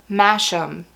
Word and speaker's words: Masham: These are Masham. I think that's how you say it.